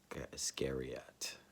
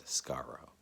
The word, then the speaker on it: Iscariot: to say his name, Iscariot. That's not how we say it. I think it's Iscaro in the way that it's pronounced in Hebrew. Um, Iscariot, as we say in America.